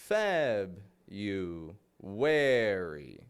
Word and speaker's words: February: 15th here's the thing when I pronounce that I'm not pronouncing the r within the word here's what we're getting